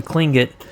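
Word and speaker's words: Tlingit: I'm definitely gonna butcher this the tingling it twing it cling it it's pronounced yeah okay there we go so the cling get people of the rule of that region with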